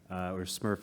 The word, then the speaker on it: SMRF: So the Supervisory Materials Review Task Force, or SMRF as we call ourselves, the T is silent.